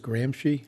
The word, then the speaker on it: Gramsci: this is a guy there's an italian theorist gramsci yeah yep i think i pronounced it that is correct yeah anyway he